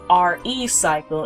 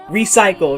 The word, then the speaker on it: Re_Cycle: 2nd 2009 and yes we have to pronounce it as re cycle instead of recycle because of that underscore that's in the title but that's of no